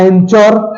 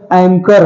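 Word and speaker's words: anchor: जैसे यहां एंचर, एंचर तो है नहीं, एंकर है, एंकर है, एच का बिल्कुल भी साउंड नहीं है। एंकर है, एंचर नहीं है।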